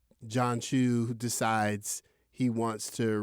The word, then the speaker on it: John M. Chu: Did I say John Chu or John Cho? Is that right? You said Chu. I said John Chu. Is that Chu? I don't know her name. Hold on, because I'm high. I said it right. John M. Chu.